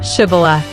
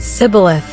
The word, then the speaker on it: Shibboleth: "Say, Shibboleth." But the Ephraimites pronounced it Sibboleth, unable to form the sound correctly.